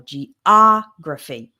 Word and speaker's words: geography: So in the word geography, the stress is on the O, geography.